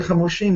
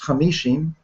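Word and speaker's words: חמושים: out of israel and the word hamushim is written without vowels and there's no vow in it and it could be just as easily pronounced hamishim 50.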